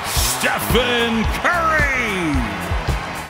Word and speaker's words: Stephen Curry: De que maneira você pronuncia o nome dessa personalidade? A three-time NBA champion and two-time league MVP, Stephen Curry!